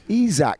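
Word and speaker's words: Isack: going to be Isaac Hajar or people Isac Isak Hajar is how he pronounces. I've been calling him Isaac all year.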